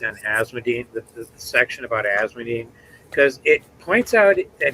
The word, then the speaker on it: Asmodean: I'm sorry, are you saying Asmodean? It's just 3 syllables? Yeah, it's Paula Dean's cousin. Okay. That's how I've always pronounced it. Okay. How dare you, Glenn? There's 4 syllables.